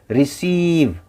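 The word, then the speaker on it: receive: रिसीव, यहाँ पे सी के बाद ई है तो सी और ई एक साथ स पढ़ा जाएगा, रिसीव। और देखिए ई पे शब्द ख़त्म हो रहा है, लेकिन हम उसका उच्चारण वी पे ही ख़त्म कर दे रहे हैं, रिसीव, है ना, रिसीव।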